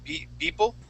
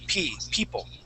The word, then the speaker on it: people: of the word people it sounded like you had started off with a b sound saying b people okay make sure to pronounce that p we want to say p people people there you go